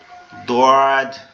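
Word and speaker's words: ضاد: সেটার নাম হচ্ছে দদ এই দটা কিভাবে উচ্চারণ হবে দটা হচ্ছে আমাদের জিহ্বার গোড়া ডান পাশের উপরের মাড়ির দাঁতের এর সঙ্গে লাগবে। মানে গালটা একটু ডান সাইডে বেকে জিহ্বাটা ওখানে লাগানোর চেষ্টা করতে হবে। এটা যদিও অনেক কঠিন। কিন্তু আস্তে আস্তে চেষ্টা করলে হয়ে যাবে ইনশাআল্লাহ।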